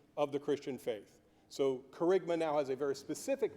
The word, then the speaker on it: Kerygma: word on the screen and wondering how to pronounce that now you know it's carigma um it's a Greek word and uh in